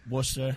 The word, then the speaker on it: Worcester: Yeah, Worcester.